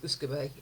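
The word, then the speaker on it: uisce beatha: It's aquavit in Scandinavia, eau de vie in France, Uscabe, I looked up how to pronounce this, Uscabe in Gaelic, which is the word that in the 18th century is simplified to whisky.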